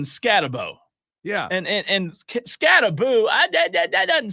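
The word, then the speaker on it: Skattebo: So just think the like Malibu rum, Scattaboo.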